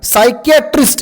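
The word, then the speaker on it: psychiatrist: वरून पण नाही बघा सायकट्रिस्ट या शब्द जो आहे या शब्दाचा स्पेलिंग पी पासून सुरू आहे याच्यामध्ये कोणता वर्ड सायलेंट आहे सांगा मला कोणता सायलेंट आहे पी सायलेंट आहे व्री गुड ओके निमोनिया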